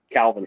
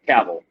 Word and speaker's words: Cavill: And now that I'm older, Calvin Henry. I don't know. And I think that's how you say it. Cavill.